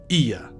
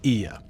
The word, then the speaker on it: Oia: First, this port is so much better than Oia. I mean, Ia. Yes, it's pronounced Ia.